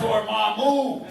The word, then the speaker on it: Dormammu: Oh, and Dormammu. I get scared just saying the name. Now you know how it's pronounced.